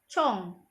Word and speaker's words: 从: Penggunaan kata cong. Yang ini kan tadi bacanya apa? Cong ya.